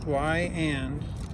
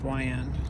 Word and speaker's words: Weiand: all right lions water pumps and it is pronounced y and just like the question y and just in case you didn't know how to pronounce y end plus water pump all right we got our